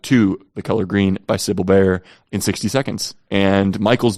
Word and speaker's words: Sibylle Baier: I think I'm pronouncing that right. I've always pronounced it Sibylle Baier. She is German, so I don't know if it's pronounced a different way. But Sibylle Baier is how I've always heard people say it.